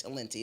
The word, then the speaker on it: Talenti: So it's talent with an I, but it's Talenti. It's an Italian gelato.